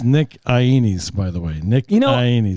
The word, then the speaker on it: Ainis: Ainis. Ainis. Can you repeat after me? Okay, I'm gonna type it out phonetically. Okay, I-E, and then like knees.